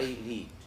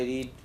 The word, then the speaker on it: read: this is read I read every day I read something yesterday I read a very good book. The same spelling but in present you pronounce it as read.